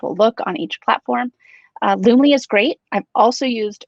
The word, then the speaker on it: Loomly: But out of all of those, Loomly is my favorite. Okay, and how do I spell that?